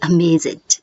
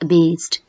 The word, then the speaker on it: amazed: judge judged love loved amaze amazed it's not amazing it's amazed belong belonged breathe breathed